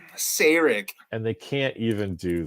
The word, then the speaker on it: Sarek: I just want people to pronounce Sarek's name correctly. Sarek.